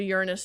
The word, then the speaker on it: Uranus: So, yeah, we do Uranus next. I love the way you say that cuz that is the correct pronunciation.